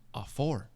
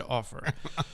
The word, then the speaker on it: Offor: us on the air somebody had told us Offor. Oh. It was even written phonetically on our computer screen. Hey, this is how you pronounce it. Surely that was not my guys. Somebody came along later and was like, I heard him saying his own name in an interview, and he said Offor.